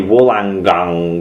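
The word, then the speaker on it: Wollongong: we did too badly wangong it's meant to be Wang gong or for [ __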